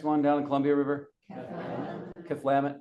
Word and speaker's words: Cathlamet: Cathlamet. Yeah, kind of a emphasis on the second syllable.